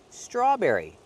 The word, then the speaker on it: strawberry: Strawberry. The vowel a like call and ball.